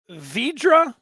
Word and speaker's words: Vidra: else Michigan Wolverine says stop pronouncing the r before the D vidra is that what how